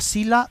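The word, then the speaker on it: psila: Es la sila del laurel. Sila se escribe con p y s.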